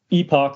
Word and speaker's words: epoch: So we've got what's called an epoch or an epoch, depending on how you pronounce that.